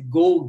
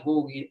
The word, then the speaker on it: Gough: Ilha Gough, que é esse Gough, que está escrito, mas não é Gough, é Gough, essa é a pronúncia do que os gringos gostam de usar, que estão aí no